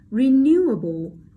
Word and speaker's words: renewable: Okay, next, renewable, able, không ảnh hưởng đến dấu trọng âm của câu, các bạn bỏ đi này.